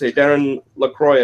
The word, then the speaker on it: Darren LaCroix: And in there, you actually mentioned something that you quoted one of the previous world champions, Darren LaCroix, I believe his name is pronounced.